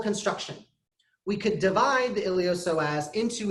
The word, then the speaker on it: iliopsoas: mad about this one iliopsoas I know there's a P in there the P is silent don't ask me why die mad about it elio so has the iliopsoas is two muscles two